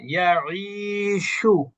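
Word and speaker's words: يعيش: আশা ইয়াঈশু, আশা, ইশু, বাআ ইয়াবিউ, বাআ, ইয়াবিউ, এখানে যদি আমি আইন না উচ্চারণ করে যদি হামজা উচ্চারণ করি, আশা বলি, তাহলে কিন্তু কোনো অর্থ হচ্ছে না, ঠিক না?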